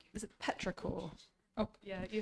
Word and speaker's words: petrichor: Is it petrichor?